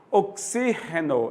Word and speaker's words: oxígeno: Oxígeno é diferente de oxigênio, que é G, é a tônica, G, né? Mas no espanhol, oxígeno, né?